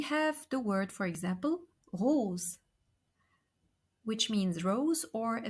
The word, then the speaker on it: rose: two vowels in French we read it and we pronounce it like a zed not like an S okay so we have the word for example Rose which means Rose or